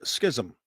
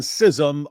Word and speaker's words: schism: Um, schism and sism are both uh appropriate and some of the dictionaries put uh schism as the main pronunciation and others put sism as the main pronunciation which means they're kind of even. But interestingly, there's also a third alternative which is schism. So it's schism, schism, and schism.